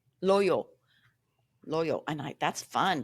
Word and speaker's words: Loyo: Uh Loyal P Loy Loya Loyo Loyo Loyo Loyo. And I that's fun to say actually. Yeah, it's like yo-yo. It rhymes with yo-yo.